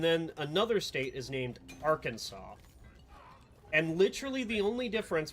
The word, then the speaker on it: Arkansas: the two is one has a r at the start of it and then it's Kansas. But they're still pronounced two different things. just because of where they come from and like the different languages that they got uh brought in as Arkansas is